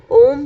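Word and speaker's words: अउम्: मंत्र इसका अम है ओम भी आप बोल सकते हैं बड़ा ऊ चंद्र बिंदु इसके ऊपर है लेकिन इसका शुद्ध उच्चारण जो होता है जो हमारे गुरु ने हमें बताया है वह है ए यू एम अम अम मंत्र है इसका 11 बार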